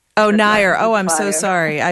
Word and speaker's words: Nair: And my name is Mira Nair. Oh, Nair.